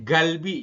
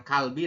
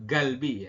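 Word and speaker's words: 갈비: l ini ya ini dibacanya galbi Yun bukan bukan Kalbi tapi eh galbi ya Jadi kita Bacanya adalah galbi gek ya G terus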